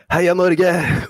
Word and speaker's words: Heia Norge: And yeah, to say it properly this time, Heia Norge!